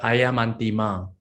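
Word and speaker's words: ayaṃ antimā: ayan and diman right you can pronounce like ayam antima so this is in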